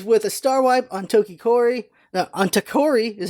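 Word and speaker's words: Tokkori: The show opens with a star wipe on Takori is how you pronounce his name, sleeping in his nest, and we see a farm of sheep that gets attacked by a giant octopus.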